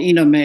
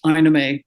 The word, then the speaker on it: Ina: pronounced many different ways what's the correct pronunciation it's inime and you know I get called Ena of course in Europe but my maternal grandmother I'm named for her and that's Ina Ina gin okay so let's